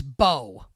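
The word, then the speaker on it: Mbow: Like the Giants might have something in Marcus Bow and his name is spelled MB pronounced Bo.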